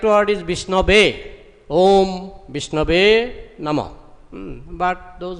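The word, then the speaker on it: विष्णवे: Sanskrit very well, so sometimes he chants mantra, you know, wrongly, wrong pronunciation, he says wrong, grammatically wrong, he says Om Vishnaya Namah, because in many words this aya is there, so he thinks it will be Vishnaya, just like we say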